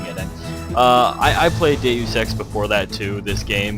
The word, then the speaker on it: Deus Ex: yours truly lunatic fringe that's deus ex not deuce x like everyone pronounces it learn latin people anyway um i had